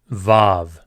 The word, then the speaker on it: Vav: Vav.